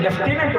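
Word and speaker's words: lieutenant: लेफ्टिनेंट में F नहीं है, ल्यूटिनेंट लिखा है, लेकिन लेफ्टिनेंट बोलते हैं। Where is this F from? ये F कहीं नहीं है।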